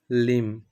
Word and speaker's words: limb: এখানে লিম যে ওয়ার্ডটা আছে, বিটা এখানে সাইলেন্ট থাকবে। আমরা প্রোনাউন্সিয়েশন কি করব? লিম, নট লিম্ব, এরকম বলবো না, আমরা বলবো লিম।